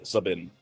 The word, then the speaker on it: Sabin: I've probably pronounced it 3 or 4 different ways, but lately I'm going with Sabin.